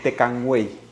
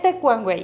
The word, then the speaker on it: Tecuanhuey: Tecuanhuey. Es Tecuanhuey. Tecuanhuey. Tecuanhuey. Bueno, aunque también tengo familiares que se apellidan Tecuanhuey porque es muy difícil la pronunciación de los diptongos y triptongos que tiene.